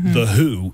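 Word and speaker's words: The Hu: Not only are we familiar with the Mongolian band, The Who, which is spelled H-U.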